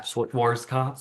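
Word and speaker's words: Schwarzkopf: Schwarz cuff.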